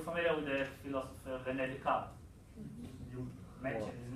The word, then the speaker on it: Descartes: We say Descartes in Hebrew. Descartes. Yeah. Descartes. Yeah. Descartes. And the way you write it down has nothing to do with the way you pronounce it, so I'm not going to write it down. Yes. So Yeah. how do you pronounce it in English? It's Descartes. It's the same way.